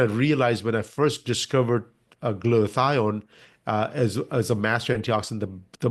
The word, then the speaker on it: glutathione: You can pronounce it better than me. I thought it was a glutathione.